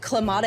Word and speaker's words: Kamala: How do you say the name of the current vice president? I'm not trying to be rude here. Is it Kamala Harris? Yep, that's perfect.